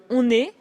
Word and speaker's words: on est: la même parce que dans on est, on fait la liaison entre le on et le verbe parce que le verbe commence par une voyelle. Donc, on prononce le N de on.